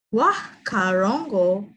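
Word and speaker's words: whakarongo: Wah karongo means listen.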